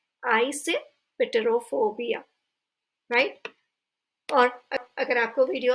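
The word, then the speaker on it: eisoptrophobia: उसे कहा जाता है आइसेपेटेरोफोबिया। आइसेपेटेरोफोबिया। अगर आपको एक साथ पढ़ने में नहीं बन रहा है तो वर्ड को तोड़ दें बीच बीच में और फिर उसे रीड करें, आइसेपेटेरोफोबिया।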